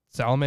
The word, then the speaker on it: Salome: Salome. Salome, is that how you pronounce it? Yeah.